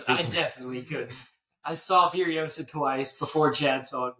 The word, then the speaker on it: Furiosa: It's pronounced Furiosa.